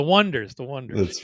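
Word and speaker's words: Oneders: So that's the Oneaters. Wait, Yep. did I mispronounce that? Oh, the Wonders.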